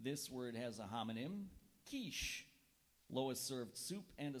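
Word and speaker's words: quiche: e pinor correct this word has a homonym kich Lois served soup and a seafood kich for lunch today kich kich may have the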